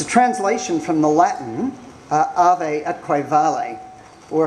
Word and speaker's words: ave atque vale: It's a translation from the Latin ave atque vale, or if I was a proper classic scholar, I'd pronounce the V as a W, so it would come out ave atque vale, but I'm too self-conscious to do that.